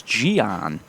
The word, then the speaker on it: Gian: so we got a correction on the pronunciation of his name it's Gian and the runner advances